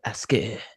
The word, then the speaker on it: Aske: His middle name is Ask, spelled with an E at the end of the K. Asque. Aske. It's French.